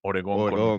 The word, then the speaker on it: Oregón: ¿Oregon así o Oregón? Oregón con Oregón, ok.